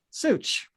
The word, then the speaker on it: Suich: how do you say your last name such zeus okay that sounds easy enough okay um